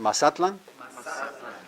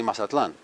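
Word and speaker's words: Mazatlán: Everyone, Mazatlan? Now, most of us say Mazatlan. Right. Yeah, that's the Hispanic pronunciation. If you want to do that, that's fine, but in Nahuatl, it's Mazatlan.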